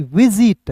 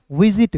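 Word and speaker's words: visit: यहां पे एस आई का उच्चारण जी के रूप में सी के रूप में विजिट नहीं पढ़िएगा। विजिट होता है।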